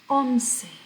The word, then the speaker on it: once: 11 is pronounced once.